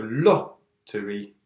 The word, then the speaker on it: lottery: So, for example, lottery, 3 syllabes. Donc, c'est le plus, on insiste le plus sur le premier syllabe. So, lottery.